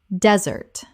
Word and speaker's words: desert: The noun desert has stress on the first syllable. The dessert we eat and the verb to desert both have stress on the second.